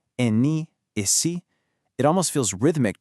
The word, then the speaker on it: Ene: In Brazilian Portuguese, these become Ele, Eme, Ene, and Ese. Go ahead, try practicing that out loud right where you are. Feel how they kind of bounce. Ele, Eme, Ene, Ese.